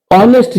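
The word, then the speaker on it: honest: ऑनेस्ट child यहां adjective plus noun है और ये नाउन जो है सिंगुलर है इसलिए एन ऑनेस्ट इसका उच्चारण अ होता है।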